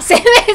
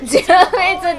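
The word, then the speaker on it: 殲滅: あ、殲滅って読むんだ。殲滅って読んでた。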